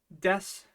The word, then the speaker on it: です: bit of an oo but other than that death is death there are some really firm rules for Sue and when you can kind of drop that oo sound and when you can't but for now let's just remember that in the case of death there's no oo sound I know I know